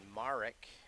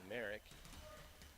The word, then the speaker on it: Marek: four on the day it's Brody dehaven Jaden Doherty Landon Marek and I think I was saying Merrick I did get LeBar